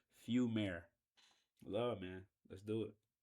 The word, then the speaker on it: Fumaire: If y'all don't know how to pronounce it, it is pronounced Fumare.